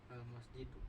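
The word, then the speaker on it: المسجد: Kalau dibuang tanwin, Al-masjidu.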